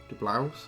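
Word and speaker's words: DeBlois: I can never like De Blouse. I've heard it's to be pronounced De Blouse.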